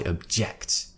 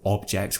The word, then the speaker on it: object: in the noun form object we're pronouncing it with an O sound but when we shift the stress to the second syllable we're actually going to now relax the O sound and it's going to